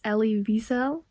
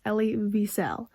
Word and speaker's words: Elie Wiesel: to point out that I just searched up the pronunciation for his name. So I do believe it's Elie Wiesel.